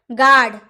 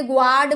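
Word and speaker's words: guard: नहीं बोलेंगे गिल्ड बोलेंगे गार्ड कभी आपने ग्वार्ड बोला है अगर आपने बोला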